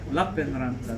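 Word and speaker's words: Lappeenranta: Lappenranta, there we go. Different stress.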